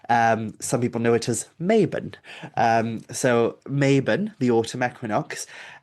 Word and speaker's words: Mabon: But then his name is invoked during this autumnal festival, and often invoked incorrectly, pronounced as Mabon and such.